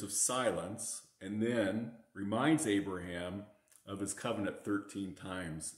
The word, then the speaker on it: Abraham: father of multitudes but in the hebrew the suffix is actually not pronounced it's just a rush of air abraham and sarai is going